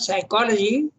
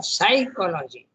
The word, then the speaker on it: psychology: the Indian psychology by the way the word psychology should not be pronounced as psychology or it's children or psychology you should pronounce as psychology and this I